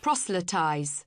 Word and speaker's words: proselytize: whatever you call it pronounce it for me proselytize proselytize there we go learn something new every